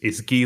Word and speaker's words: Gui: So the way that I usually say is Gui like in Guinness. So you can either take this to the beer or to the Guinness World Record. So pick your favorite one. But that's the way we pronounce it.